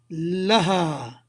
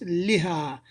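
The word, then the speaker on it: لها: the Raja T whereas if you join it with me to a pronoun you will say la la ha not Li ha and this is just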